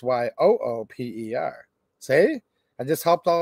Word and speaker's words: Yoop: You can say up in the, don't say up in the letter U-P. You have to say up in the Yoop, Y-O-O-P. And then if you're referring to them, it's Y-O-O-P-E-R.